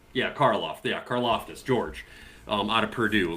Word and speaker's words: Karlaftis: kid from the Chiefs, I can never say his name, but Clonitis or whatever is. Karlaftis. Yeah, Karlaftis, George, out of Purdue.